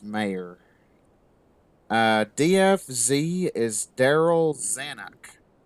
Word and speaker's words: Mayer: pronunciation there got you unfortunately you said major I think but yeah it's mayor uh dfz is Daryl